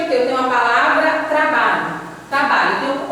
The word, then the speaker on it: trabalho: Olha aqui, trabalho. Chame a palavra trabalho. Trabalho, trabalho. Você demora mais no bar. Então, o bar aqui é a sílaba tônica.